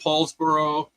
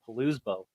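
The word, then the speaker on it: Poulsbo: Got to visit Paulsboro. Very Viking area there. Paulsbo. Paulsbo, yeah. But no, I had a hard time pronouncing that when I first saw it. I was trying to pronounce it Palousbo.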